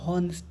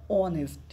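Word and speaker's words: honest: না এখানে হয় আছে বলে হনেস্ট না অনেস্ট এই টা উজ্জ্ব হবে এইচ টা উজ্জ্ব থাকবে ঠিক আছে অনেস্ট এই অনেস্ট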